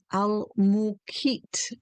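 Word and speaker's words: Al-Muqit: There is one called Al-Mukit, and it's spelled with an M as in Mary, U, and then the transliteration is a Q, and it's kind of like, it's more like a click kind of in the back of the throat.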